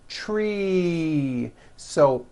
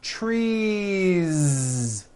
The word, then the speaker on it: trees: a voiced sound tree so what you want to do if you're going to add an S to a word like this to make it plural is you continue the voicing throughout the whole word and add on a voiced Z so here we go you've got one tree or two trees it's not trees with an unvoiced S it's trees with that